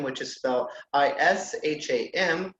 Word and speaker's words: Isham: name it's Isham which is so is H a.m. which is basically is am but pronounced Isham so all together